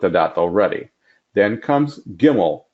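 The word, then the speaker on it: גימל: Then comes Gimel, G as in game.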